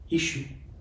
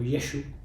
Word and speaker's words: Yeshu: El maestro Ishu o Yeshu, que es como se le pronunciaba antiguamente a su nombre, dijo: yo soy la